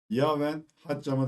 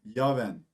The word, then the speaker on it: Jaouen Hadjam: Bugün sizlerle Hayatımız Beşiktaş kanalında Beşiktaş'ımızda son iki sezonda transfer haberlerine konu olan Yaven Hatcam'ı değerlendireceğiz. Telefu biraz zor araştırdım. Şöyle okunuyor. Yven ilk ismi Yav. D''yi C diye okuyoruz.